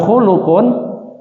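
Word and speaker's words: خُلُق: jenengan wonten kitabipun Nggih khalaqo hurufipun Sami k lam qof tapi cara bacane Benten ya kholqun khnya di Fathah lamnya di sukun qofnya di dahain atau dah artinya ciptaan atau makhluk kalau khulukun artinya akhlak ya Fadlu husnil khului keutamaan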